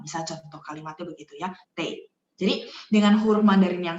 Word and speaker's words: 得: Sebenarnya ada satu lagi cara bacanya tei.